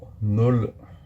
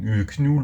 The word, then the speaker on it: Knull: Et on va découvrir tout simplement Null, du coup, qui se ne dit pas Knull ou Knull, non, c'est Null.